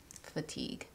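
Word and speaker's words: Phatigue: That's really cute, the way that it's spelled. And it's P-H-A-T-I-G-U-E, Fatigue, cute.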